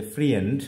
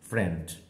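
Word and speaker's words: friend: সুতরাং ইএন বলছি না, মানে FRIEN আমরা উচ্চারণ করতে পারি যে ফ্রিয়েন্ড, আসলে তেমনটা নয়, এটা হচ্ছে ফ্রেন্ড, ফ্রেন্ড।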